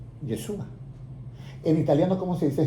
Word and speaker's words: Yeshua: El nombre correcto de Jesús es Yeshua.